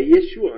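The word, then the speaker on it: ישוע: Por exemplo, a gente sabe que a pronúncia hebraica de Yoshua a pronúncia aramaica de Yoshua é Yeshua, a gente sabe disso, né?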